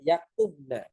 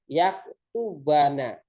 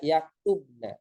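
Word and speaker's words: يكتبن: Maka ketika ada lan tetap dibacanya yaktubna, bukan yaktubana, tetap dibaca yaktubna.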